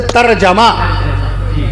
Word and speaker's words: ترجمہ: آپ لوگ جو یہ کہتے ہیں ترجمہ ترجمہ ترجمہ کر دیجئے، ترجمہ کر دیجئے. صحیح تلفظ ہے ترجمہ.